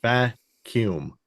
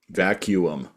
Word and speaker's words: vacuum: Vacuum, 2 U's, pronounced vacuum. Vacuum. Vacuum. Vacuum. On English. Stick to vacuum.